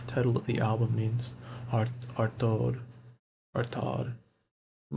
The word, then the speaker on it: Artaud: Artod. I'm not sure how you pronounce it, but let me know, please.